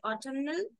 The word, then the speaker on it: autumnal: starting being sounding okay the Autumn does not have n uh in the word Autumn and is silent but when you say autumnal then n becomes loud okay tandem doesn't have